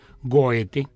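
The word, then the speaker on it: Goethe: yo digo que todavía pero cómo se debe decir goete como se escribe cómo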